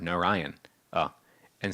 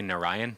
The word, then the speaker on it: Narayana: given in here that 4 messengers of Vishnu came, one for each syllable, and the last Narayana. That last is one of the messengers who came from. That's why I keep on. Most people, when they say Narayan, they just say Narayan.